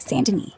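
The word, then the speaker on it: Saint Denis: Currently in chapter 6, located in Sandin, Saint Deni, pronounced Sanden, not Saint at 80% honor, aiming to max for better vendor prices.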